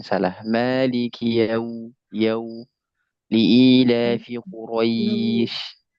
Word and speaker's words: Quraisy: Maliki yau liila fi Quraisy. Jangan sampai dia sering terjadi kesalahan teman-teman begini. Liila fi Quraisy. Bukan begitu Quraisy, bukan begitu bacanya.